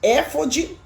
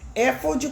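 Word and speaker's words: éfode: Tem gente que fala Efod ou então fod. Efod tem acento na na antipenúltima sílaba. Última, penúltima, antipenúltima. Aí é é chamada de proporoxítona.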